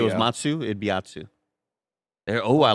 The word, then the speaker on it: Atsu: Now it's Asu. Asu. Yeah. And that's what, but I just said it the way you want me to say it, Asu. No, with a T. It's still T. Atsu. So Atsu. Atsu. Atsu. You know like a matzo ball?